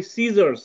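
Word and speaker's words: scissors: আমরা পড়ি সিজার্স, সিজার্স মানে কি, সিজার্স কাঁচি, তাই না?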